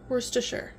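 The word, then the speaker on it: Worcestershire: and a teaspoon of Worchester sh no wor sh Worster sh Worster sh sauce I've pronounced it wrong all my life and I'm trying to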